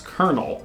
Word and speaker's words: colonel: Because we pronounce colonel as colonel.